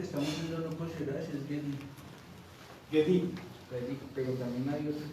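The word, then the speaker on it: גדי: Es Gedi. El cabrito que estamos viendo no cocerás es Gedi.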